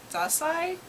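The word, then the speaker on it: Dazai: here behind me it's an adaptation of osama dasai that's how you say his name uh one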